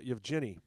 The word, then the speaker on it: Evgeny: How do you pronounce this guy's name? Kuznetsov? Kuznetsov. Kuznetsov. Yeah. Is it Evgeny? Evgeny? Yevgeny.